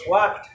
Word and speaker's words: walked: ওয়াকড এখানে এল উচ্চারণ হয় না ইউ Walk.